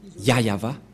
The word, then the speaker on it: Yahvah: voit rien et donc c'est bien la vraie prononciation de son nom yayava voilà le ya et